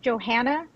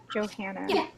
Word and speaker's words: Johanna: gains probably lower so your name's pronounced johanna johanna okay now i am getting